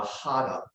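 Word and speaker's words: hara: it is called the hada it's spelled h-a-r-a but the r is pronounced like d martial arts masters zen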